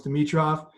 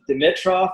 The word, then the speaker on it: Dimitroff: It must be my brother / the Canadian pronunciation of Dimitroff that you guys all say Dimitroff. Maybe you think that's like the carnivore sort of like tough thing, but it is actually Dimitroff, and I've been battling